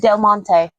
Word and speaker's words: Del Monte: I want to make sure I pronounce it right. All right. Well, how do you say it? Del Monte.